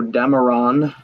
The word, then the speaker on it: Dameron: Poe Dameron rhymes with Cameron, as in James Cameron.